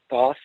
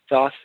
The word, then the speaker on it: Thoth: Before that, in about 8 or 9 years, part of my purpose is to build 3 temples, Thoth, Lakshmi, and Aphrodite. Thoth, or Thot, or there's other pronunciations depending on depending on stuff, has been